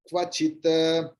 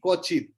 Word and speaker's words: क्वचित्: বাংলায় আমরা বলি কচিত, সংস্কৃতয় হাফ ক এবং পূর্ণ ব, ক্ব ক্ব।